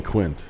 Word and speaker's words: Quint: they're saying Quint, but you're not hearing the T.